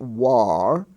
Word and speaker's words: war: you'll notice that when that ar spelling form is preceded by a w it changes the sound for example w a r is not war even though it's in the ar spelling family it's pronounced war w-a-r-d is ward w-a-r-m